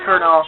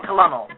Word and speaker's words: colonel: of colonal or you know supposed to be pronounced colonel but I pronounce it colonal at all and like with computers too they